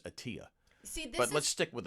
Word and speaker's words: Attila: no everybody pronounces it attila but it's actually the real pronunciation i found out years later is atiya see but let's stick